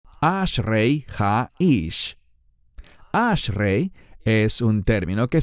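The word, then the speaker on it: האיש: Y noten la siguiente frase, Ashrei ha-ish. La palabra ish significa varón, pero el término ha-ish, escuchen bien esta sílaba, ha, es una sola letra en hebreo y expresa o se usa como artículo definido.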